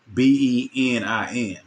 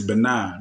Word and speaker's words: Benin: what I'm saying and the way that they pronounce it in West Africa is benign but the way that